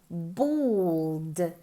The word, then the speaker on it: bald: Se escribe con una A, pero se pronuncia como si fuera una O. Bald.